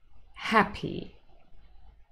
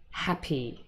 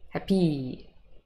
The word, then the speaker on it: happy: Most common nouns and adjectives that have two syllables in English are stressed on the first. Window, city, happy. We do not say window, city, happy. No. Sounds like I have a French accent.